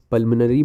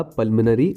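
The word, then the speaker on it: pulmonary: पल्मोनरी में ओ silent है।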